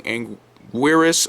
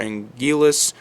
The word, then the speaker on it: Anguirus: and the other being anguirus or angelus the name is pronounced differently so many times throughout the series that it's hard to keep track however i usually stick to calling him anguirus now anguirus would become